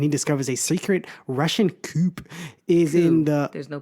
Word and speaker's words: coup: Yeah, C-O-U-P is coup. Oh, you learn something every day. Hey. Pointless letter, though.